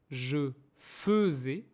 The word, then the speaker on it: faisais: Et le troisième verbe, faire, je faisais, be careful, the first part is pronounced as e, je faisais, vas-y, tu faisais, on faisait, nous faisions, vous faisiez, il faisait.